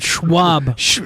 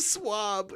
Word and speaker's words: swab: That schwab. That's like a name, not cotton schwab. Cotton schwab. What's so funny? That's not how you say it. It's a cotton schwab. No, it's a swab.